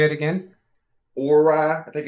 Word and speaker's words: Orei: Or rye, I think is the brand. I think that's how you say it. Say it again. Orei.